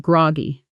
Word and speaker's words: groggy: Notice the natural rhythm. The stress falls on gr and the whole phrase flows together almost as one word.